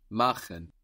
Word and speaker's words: machen: To do or to make is machen, machen. Machen. That's spelled M-A-C-H-E-N. And here we have friction on the C-H, machen.